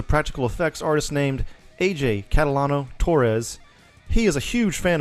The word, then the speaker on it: Catalano-Torres: I'm still getting used to the married name, Catalano-Torres.